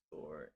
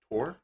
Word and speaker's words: Thor: It's sort of funny how they say the name of Thor in Old Norse. It is Thor. Thor. Oh, is it pronounced Tor? In old Thor in Norse. Thor in Norse is pronounced Tor.